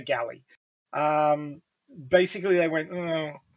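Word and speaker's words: Gally: with with the japanese language that there's no distinction between l's and rs so it could actually be gary it's a bit it's a bit hard to tell but most people say galley um basically they went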